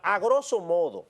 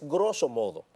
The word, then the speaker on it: grosso modo: medios de comunicación que dicen la palabra a grosso modo. Ahí hay un error. La palabra correcta, la pronunciación es grosso modo, porque la palabra grosso modo en sí mismo incluye el A en la traducción al español.